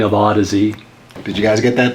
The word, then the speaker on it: Audeze: So they came up with the spelling of Audeze. Did you guys get that? That's the origin of how to pronounce the name Audeze. Okay? So when you think of Audeze, think of Odyssey.